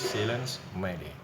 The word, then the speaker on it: Silence Mayday: Itu diucapkan sebagai bahasa Prancis silence mayday.